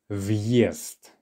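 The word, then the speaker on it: въезд: The correct pronunciation is viest. Viest. All right? Viest. Now, if we did not have this hard sign, it would be viest. Viest. So listen to the difference. Viest with the hard sign versus viest without.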